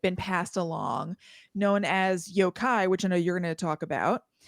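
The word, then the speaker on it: yōkai: kind of like been passed along, known as yokai, which I know you're going to talk about. And that was that is that how you pronounce it? Yokai?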